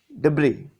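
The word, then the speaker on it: debris: building rubble and refuse deis otherwise called as Deb d e b r i s and here s is silent okay du rubble and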